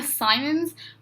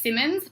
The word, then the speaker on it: Simons: paulina simmons or paulina simons i think i don't know i've always heard it's pronounced simmons but it's spelt simons so please correct me